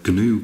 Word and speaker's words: GNU: these tutorials is the gnu compiler and the g is actually pronounced in gnu i believe um it's some sort